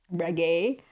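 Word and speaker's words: Regé: I'm not really familiar with Reggae. That's how he was pronouncing his name. So I suppose that's how you pronounce it.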